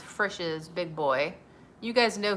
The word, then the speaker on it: Frisch's: It's pronounced Frisch's Big Boy.